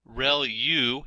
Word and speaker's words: ReLU: There are multiple hidden layers like convolution layer relu is how that is pronounced and that's the rectified linear unit that has to do with the activation function that's used.